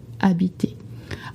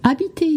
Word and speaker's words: habiter: The word is habiter. Habiter is spelled with an H, and please do not say habit. It's habiter. I know it's something hard